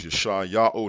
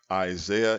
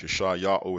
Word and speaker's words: Yashai-Ya'oh: His name is Yashai-Ya'oh, not Isaiah in the filthy heathen language. Yashai-Ya'oh is how you pronounce his name in the pure language.